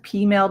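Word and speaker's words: peameal: Another one is pea meal bacon. So I think pea meal? Pea meal. Like female, but with a P. Well, it's spelled pea meal, but it's pronounced pea meal bacon.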